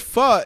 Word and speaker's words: pho: And pho, for all of you that are out there that aren't quite sure, that's where you see P-H-O is pronounced pho.